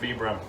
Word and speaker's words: Vibram: way than vibram but when you look it up that is actually how you're supposed to pronounce it vibram right now i have